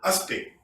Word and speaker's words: aspect: Et encore, aspect, on doit prononcer.